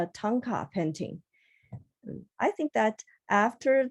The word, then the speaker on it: Thangka: In Tibet, we pronounce it as Tanka.